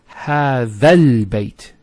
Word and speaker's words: هذا البيت: It's هذا البيت. So it's not هذا البيت. You don't pronounce this hamzat al-wasl here. So you go from this alif to this lam.